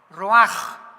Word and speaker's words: ruach: espíritu y se pronuncia la ch en el hebreo como j. Ruaj, roaj. como J Raj Kadosh, el oroj, el Espíritu Santo, Roaj, el Kadosh, en el hebreo es Roaj.